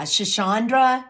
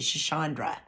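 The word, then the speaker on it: schisandra: there are mushrooms uh shachandra that's for brain fog in particular that's actually spelled s-c-h-i-s-a-n-d-r-a and she pronounced it shachandra and then rhodiola maca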